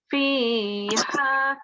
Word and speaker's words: فيها: That is fi. Again, you need to prolong 2 seconds. It's always your mother's here that needs prolonging for 2 seconds. So 2 seconds here. فيها فاكهة والنخل.